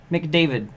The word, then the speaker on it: McDavid: is wrong with you people yeah it's Connor McDavid or just McDavid if you can't remember his